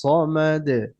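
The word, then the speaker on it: صمد: আল্লাহুস সামাদ। আল্লাহ আল্লাহু সামাদ। জি। আর এটা হচ্ছে সদ। এটা অনেক সময় অনেকে সিন বলে। আল্লাহু সামাদ। এটা কি সামাদ হবে না সমাদ হবে?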